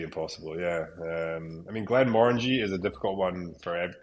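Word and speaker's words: Glenmorangie: people in the UK would say Glenn Morani, but I believe it's Glenn Morangi.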